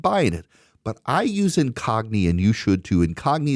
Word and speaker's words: Incogni: But I use Incogni and you should, too. Incogni is spelled I N C O G N I. Incogni. Like incognito. Incogni.